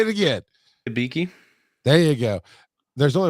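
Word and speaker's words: Hibiki: like you said it right say it again hiiki there you go there's only one reason I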